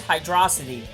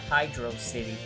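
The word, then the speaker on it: Hydrocity: of life so uh good for you it's pronounced hydrosity not Hydro City you disappoint o me vanilla glass 8236 you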